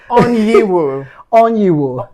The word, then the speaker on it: Onyeiwu: last name because it actually caused me to pronounce it. Oniwi. Perfect. Oh, beautiful. That's perfect. So, shall I start again? If you want here with onu.